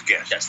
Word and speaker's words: Gest: from a restaurant called I think it's pronounced guest but I'm not sure it's Gest t uh Shaunie Gary here shaie Gary Gary sorry correct yes and pronounce the the the name it is guest the only you know